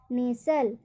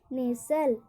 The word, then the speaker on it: nestle: जैसे एग्जाम्पल, नेसल, इसको क्या पढ़ेंगे, नेसल। यहाँ पर STLE में टी का उच्चारण नहीं होगा, नेसल, नेसल।